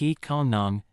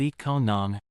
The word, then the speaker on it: อีกคนหนึ่ง: อีกคนหนึ่ง Pronounce it like eat kon nung. Imagine saying I can earn but replace I can earn with eat kon nung.